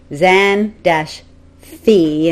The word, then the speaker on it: Xanthe: yeah like what i've written in the notebook is zan fee and i've sort of written it out phonetically and then not x-a-n-t